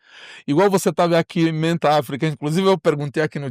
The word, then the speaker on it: Mentáfrica: Então, né, conforme a gente já falou para você, Mente África. A pronúncia é só Mente África, né?